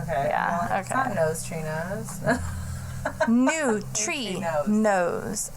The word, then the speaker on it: neutrinos: trinos new tree nose I had to write it out like n-e-w-t-r-e when she was telling n-o-s-e even though it's not how I spell it I'm like new tree nose and so neutrinos when she was telling me I was like wait is that like three different words or it's like one word like I don't understand